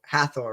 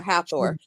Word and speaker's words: Hathor: uh haor but uh how how do you pronounce it haor hathor right yeah hathor and goddess of love and then uh she